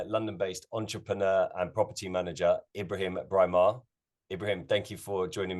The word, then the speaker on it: Ibrahim Braimah: am joined by london-based entrepreneur and property manager Ibrahim breimar Ibrahim thank you for joining me today thank